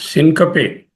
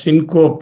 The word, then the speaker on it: syncope: Usually you are used to pronouncing it as syncope. It is not correct. Syncoptein. Syncoptein is a Greek word. From the syncoptein, the word syncope is derived. Syncope. Syncope. Syncope is the pronunciation.